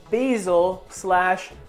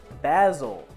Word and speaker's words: basil: orange in this but there's also basil / basil my girlfriend's from the UK so I got to do both pronunciations or she'll chirp me